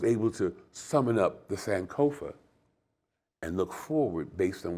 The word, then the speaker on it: Sankofa: Sankofa. Is that the That's correct Sankofa?